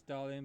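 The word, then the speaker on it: Darlian: It says Darlin, but it's pronounced Dorlin in the anime.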